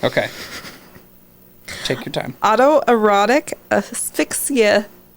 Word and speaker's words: asphyxia: Autoerotic asphyxia. Asphyxia.